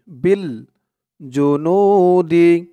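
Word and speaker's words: بِالْجُنُودِ: টানি হবে উচ্চারণটা হবে বিল জুনুদিন এরকম উচ্চারণ হবে আর থামলে এখানে তিন আলিফ টান দিয়ে এই দালকে ধরবে বিল জুনুদ তো আপনারা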